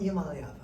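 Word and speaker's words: Iamaleava: Iamaliava? Iamaliava, there it is.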